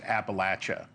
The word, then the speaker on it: Appalachia: Well, first of all, Leland, you know it's pronounced Appalachia.